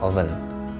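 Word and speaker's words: often: oven kemudian ada oven tulisannya of the bacanya oven itu biasanya kadang-kadang tulis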